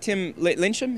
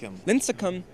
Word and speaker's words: Lincecum: If you haven't seen it, Tim Lyncham, is that how you say it? Lincecum.